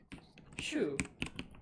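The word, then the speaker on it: sju: Shoe. Yeah, exactly. It's like my mouth doesn't work that way. Just say shoe, like shoe that goes on your feet, and it's pretty close.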